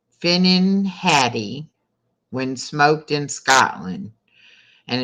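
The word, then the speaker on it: finnan haddie: all right first question what fish is called finnin Hattie when smoked in Scotland and it's spelled f-i-n-n-a-n Patty h-a-d-d-i-e what fish is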